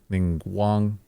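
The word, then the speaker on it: Ningguang: rays of light so that's really fun mingang ning Guang ning Guang that's the tough the second part is still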